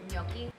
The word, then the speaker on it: gnocchi: It's the G is silent. It's okay, yes. The G is silent. Mm-hmm. Just like in lasagna. Ganache, wow.